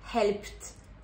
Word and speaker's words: helped: Donc help, helped, helped avec le son t.